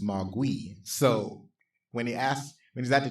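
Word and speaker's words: 魔鬼: In Mandarin, the pronunciation is Mogui.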